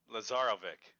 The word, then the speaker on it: Lazarovic: Stefan. Stefan. Lazaroic. Lazarovic. Okay. All right.